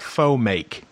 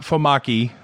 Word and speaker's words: faux make: How about faux make? You better spell that. Yep. So it's not fomaki, some great Japanese dish.